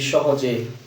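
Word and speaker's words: ثاء: সা হরফটা উচ্চারণের জায়গাটা একটু দেখে নিই। জিহ্বার আগা উপরের দাঁতের আগার সাথে লাগান, তারপর উচ্চারণ হবে।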